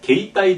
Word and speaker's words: 携帯: 게이따이 대화 그 이라고 하는 모음 앞에 에단이 오면 그 이는 발음하지 않고 앞에 그 에단 글씨의 장음이다. 따라서 게이따이 대화가 아니라 게이따이 대화 게이따이 대화 반드시 이렇게 하고요.